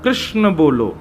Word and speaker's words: कृष्णा: कहा करते हैं कि भगवान का नाम उच्चारण करना है तो कृष्ण बोलो कृष्ण और यदि द्रौपदी का उच्चारण करना है तो कृष्णा बोलो अकार आ की मात्रा लगाओ संपूर्ण महाभारत के